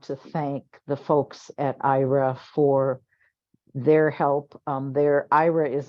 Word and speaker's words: Aira: It's pronounced Aira.